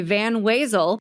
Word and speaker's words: Van Wezel: So, I work at the Van Wasel Performing Arts Hall. Was not weasel.